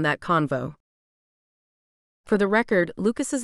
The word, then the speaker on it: Lucas: convo for the record lucas's name rhymes with mucus don't get me wrong